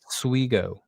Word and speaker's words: Suigo: We're going with pronunciation on the last name as Suigo, who is an international big man playing for Mega.